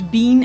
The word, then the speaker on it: Bean: There is no audible difference between the pronunciation of the words bean and bane in the Galwian dialect.